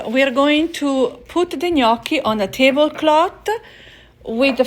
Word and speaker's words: gnocchi: Marzia, how do you say gnocchi?